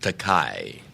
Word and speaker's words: Takai: However, there is a Japanese word pronounced Takai with an A, T-A-K-A-I, and that translates into English as expensive.